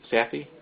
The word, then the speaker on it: Sathi: But today's speaker is Andy, I want to make sure I pronounce the last name, Sathi? That's right. Andy Sathi from the Malibu Group.